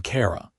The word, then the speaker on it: Carara: "I am Carara." She pronounced it with a slight roll to the R, a sound that was distinctly orcish.